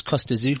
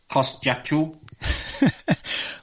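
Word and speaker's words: Kostya Tszyu: Kostyachu. Well, apparently we've all been pronouncing it wrong because it's like a sneeze, isn't it, or something?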